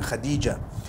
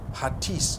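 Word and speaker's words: Hatice: it you know I came across the name Khadijah in Turkish some people spell it h a t i c e I would say hatis for that no it's actually Khadija in Turkish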